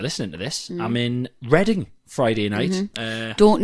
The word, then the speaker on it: Reading: who decided right and we know that it's spelled the same as the you know the word reading but we're not going to call this place reading we're going to call it reading i'll ask them on